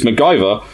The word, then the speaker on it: MacGyver: who was the creator of the TV series MacGyver, who stipulated...